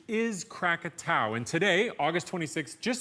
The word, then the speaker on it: Krakatau: crumpit ow now most people know it as Krakatoa but the correct pronunciation is crack at ow and today August 26 just so happens to